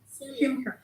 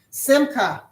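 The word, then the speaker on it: שמחה: Simcha. Simcha.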